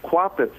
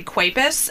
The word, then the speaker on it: Kwapis: do you pronounce it it's quotes that's what i thought okay i just didn't want to say quapis and then have you